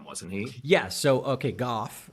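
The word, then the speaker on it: Gough: Is it Goj? Goff with like an F sound at the end.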